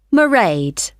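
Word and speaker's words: Mairead: you'll see my assistant maraed sorry how do you spell that it's m a i r e a d marade okay got that it's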